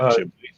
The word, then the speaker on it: Ghibli: You pronounce it Ghibli.